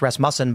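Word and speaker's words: Rasmussen: Oh, I'm pretty sure I recall you saying that, but 48% of people we learned recently that's pronounced Rasm Musen by the guy from Russ Mus who came here.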